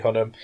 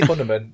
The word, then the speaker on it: Hunnam: Charlie Hunnam. I always say Hunnaman. Yeah, you do. Hunnam, Charlie Hunnam.